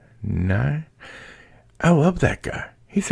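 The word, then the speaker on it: Nighy: I guess it's Nye. N-I-G-H-Y. Nye.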